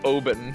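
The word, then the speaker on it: Obyn: I think it's O-B-Y-N, so it's Oben.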